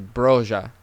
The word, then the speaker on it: Broja: I'm pretty sure it's not Broja. I think it's Broja. I mean, you just, everybody, you can't always be silent. You got to, sometimes some languages and some people pronounce the J's.